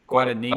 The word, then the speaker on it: Guadagnino: I've liked Luca Guadagnino. Yes. Guadagnino. I wasn't going to butcher his name there and try and pronounce it, so I'll let you.